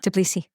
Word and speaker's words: Tbilisi: Tbilisi. Tbilisi. Sorry, thank you. I just had to ask that right away because I just... Or Tbilisi. Tbilisi, so no T in there.